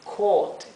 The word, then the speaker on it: caught: Fíjense que lo he escrito con C-O-O-T en la fonética, porque caught tiene que ser un sonido largo. Caught, ¿sí? Cuando tenemos esta combinación de letras en inglés, se pronuncia como una O larga.